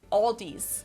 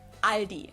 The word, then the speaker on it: Aldi: Aldis in Germany we just say ali. It has it's like a silent L in it.